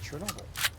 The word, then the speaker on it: Chernobyl: Anyway, as I was saying, that person was nice enough to tell me that, yes, it is still pronounced as Chernobyl.